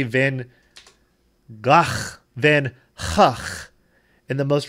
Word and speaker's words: van Gogh: But like a ha, ha. Same sound at the beginning and at the end. Ha. Vincent van Gogh is how the Dutch say it, like it or not.